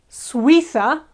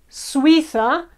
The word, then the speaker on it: Suiza: Another example, Switzerland is Suiza. Suiza, we or sui is one syllable and then tha, the other.